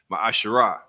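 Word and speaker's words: מעשר: You can find this in Numbers 18 and 21 and Malachi 3, 8 through 10, which means 10th in Hebrew and is pronounced Ma'asherah.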